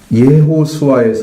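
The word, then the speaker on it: יהושע: 나오는 반복되는데 히브리적인 의미는 예호수아에서 나온 예수가 준말이에요. 예호수아. 그러면 여호수아 알겠죠? 예호수아 이렇게 읽거든요. 히브리어로. 그렇게 읽는데 그러니까 우리 발음하고는 완전히 다르죠. 그냥 줄여서 여호수아 이렇게 간단하게 읽는 거예요, 우리는.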